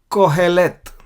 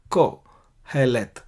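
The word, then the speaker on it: קהלת: सभोपदेशक को, यानी अंग्रेजी में इक्लेसियास्टिस को कोहेलेत कहा जाता है, कोहेलेत, कव्वाली जैसा क, कोहेलेत।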